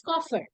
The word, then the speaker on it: Koffer: It's coffer.